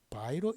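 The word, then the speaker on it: 白: 중국 발음으로는 백이 기역받침이 없어서 바이로 읽는다.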